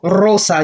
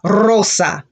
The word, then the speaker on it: rosa: you have to double rosa you roll hard like the double r okay if the word begins with auro you give it the hard roll rosa excellent and for that